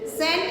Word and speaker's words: scent: Scent, scent, you S is silent. Circle the silent letters. Bomb ka B is silent, scent S is silent.